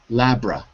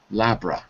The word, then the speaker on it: laboratory: So you don't say the O. It's take out the O. Labra. Labra.